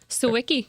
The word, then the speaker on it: Sawicki: Sawicki, yep, good Sawicki, all right, awesome. Rounds with Kanicki. Sure does. It does rhyme with Kanicki.